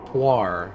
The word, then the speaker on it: Puar: Pronounced Puar.